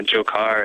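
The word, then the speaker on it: Dzhokhar: So if you just, plug it into like Google Translate or that sort of thing, it totally makes the J sound and the Dzhokar.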